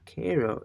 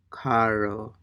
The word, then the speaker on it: caro: caro, caro, Okay, so what I want to say is it's not caro. It is caro, right? I mean, the A is really uh, Im- important here, right?